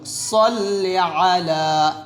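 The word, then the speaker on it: صَلِّ عَلَى: এখানে আল্লাহুম্মা সাল্লি আলা সাল্লি আলা লাতে আমরা এক টান দিব সাল্লি আলা এর সাথে পড়লে আল্লাহুম্মা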